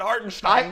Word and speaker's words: Hartenstein: That's how he says it, Hartenstein.